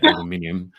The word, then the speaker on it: aluminium: and she's allergic to well I say aluminium I say aluminium you you you Americans say aluminum we can we can